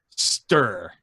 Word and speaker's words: Ster: Open Google, Lijiang Villa Genji guide, and it's pronounced Ster with a U.